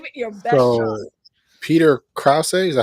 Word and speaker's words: Peter Krause: So Peter Krause, is that how you say his name?